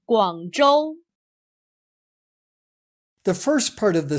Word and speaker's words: Guangzhou: Notice that in the Chinese name of the city, ZH is pronounced much like the English J, J. Remember the name Guangzhou.